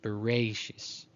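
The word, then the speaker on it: בראשית: We would say Bereshit, but a more Ashkenazi pronunciation is Bereshis, Berei.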